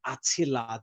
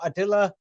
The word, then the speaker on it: Attila: In English, they pronounce it more with the T, Attila the Hun. Mm-hmm. Yes, but that doesn't mean English is correct.